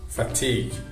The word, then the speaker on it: fatigue: um padrão, que são palavras que terminam com G, U, E. E nesse caso, novamente, as vogais U, E não são pronunciadas. Então, nesse caso, só pronuncia o G, aquele G seco, sem nenhuma vogal. Cuidado para não colocar vogais depois dessas palavras. Vou dar alguns exemplos que são colleague, play, fatigue, vague, league.